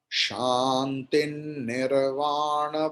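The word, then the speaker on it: śāntiṃ nirvāṇa: Here after shanti there is anushvara and then nakara is there, so anushvara's pronunciation will be like nakara.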